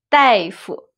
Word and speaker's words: 大夫: the character is 大。But in this word, it's pronounced 代, 大夫, 大夫. Compared with 医生, 大夫 is a little more casual, colloquial.